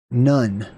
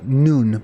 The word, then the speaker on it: nun: mysterious uh word right none or it's actually noon because of the pronunciation of the vov originally was ooh right so noon like High Noon right or like the nun like a Catholic nun same deal uh this